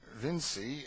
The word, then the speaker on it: Vinci: They spell it Vinci and pronounce it Vinci.